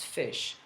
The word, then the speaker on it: ghoti: The GH here can be pronounced F, like in laughter, to laugh, for instance, right? So GH in to laugh is pronounced like an F. So this is F. And then the O can be pronounced E, like in women, right?